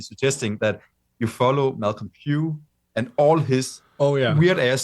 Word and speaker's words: Pugh: Suggest a person instead of a band, because I'm actually suggesting that you follow Malcolm Pugh and all his weird ass side bands.